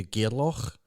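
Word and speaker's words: Gairloch: towards kenlucky and into gearlock and we're doing with proper scotty saw the english sessions yeah it's gear lock let's get a lock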